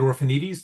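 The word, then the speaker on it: Orphanides: Orphanites. The last name is spelled O R P H A N I D E S.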